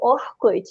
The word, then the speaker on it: Orkut: Here in Brazil, we pronounce it like Orkut in here.